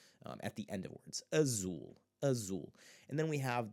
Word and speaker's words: azul: Azul. Azul. Now there are two syllables there, but it's still in that syllable that we want to pronounce as ooh.